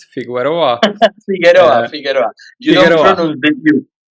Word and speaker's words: Figueroa: Figueroa. Figueroa, Uh, Figueroa. You don't Figueroa.